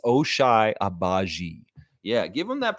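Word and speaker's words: Ochai Agbaji: Raptors uh it's Alish H please yes it's osai abaji yeah give them that pronunciation guide Justine Jones because those Jokers are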